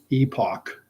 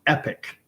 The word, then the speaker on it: epoch: with the way it said uh the I pronounce this word epoch e-p-o-c-h meaning an era a time period an Epoch but most individuals including individuals associated with the publication itself they pronounce it Epic which is spelled e-p-i-c but arose by any